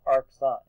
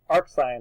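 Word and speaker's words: arcsin: it written this way you actually pronounce it AR sign so never never never will you say oh cosine to the one of x equals this you'll say Ark sign of x equals this so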